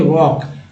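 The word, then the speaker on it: walk: पर L silent है वॉक यहां पर एल साइलेंट है तो काम तो आप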